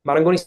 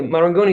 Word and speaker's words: Marangoni: Now of course if I say Marangoni, Maranggoni sounds very Italian, right? Uh if I want if I need to use let's say my full pronunciation, I will say Marangoni. But anyway, Marangoni is not just an Italian uh school anymore.